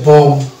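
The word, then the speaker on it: bomb: ওয়ার্ডটি রয়েছে সেটা হচ্ছে বম। এই যে বম ব্লাস্ট হয়, বম বোমা, সেটাকে আমরা বম বলবো না, বম বলবো, বম। বি এর উচ্চারণটা আনবো না।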